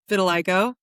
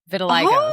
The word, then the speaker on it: vitiligo: Blind to have vitiligo. Vitiligo. Yes. Oh, okay. Wow. And I also know how to pronounce vitiligo now cuz I always read it and thought it was vitiligo.